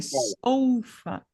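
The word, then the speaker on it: sofa: não é sofá porque eu sei que a pronúncia do o é ou né Uhum E a silaba tônica também soufa soufa sfa Aham agora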